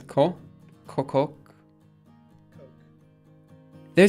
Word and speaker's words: Koch: Google how to pronounce how do you pronounce the name it's pronounced coke okay but I think